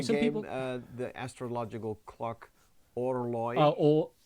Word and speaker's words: Orloj: Some people, the astrological clock, Orloi. Orloi, yeah. That's everyone saying. You pronounce it Orloi. I'm pretty sure it's like the French horloge.